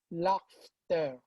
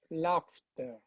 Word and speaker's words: laughter: please the the pronunciation laughter so the gh takes on the f f laughter sounds like a laughter